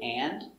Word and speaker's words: and: Remember with and, especially with a consonant after, the D is silent.